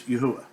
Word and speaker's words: Yahuwah: this again proves that the name of the creator is pronounced as yahuwah okay see you next